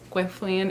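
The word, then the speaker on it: Gwenllian: The Raven cycle series quintilian is how it is pronounced in the audio books so that is how I say it I don't know if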